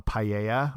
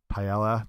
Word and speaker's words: paella: a lot like adding into something like a Paia or paella depending on you want to pronounce it like completely transforms the dish so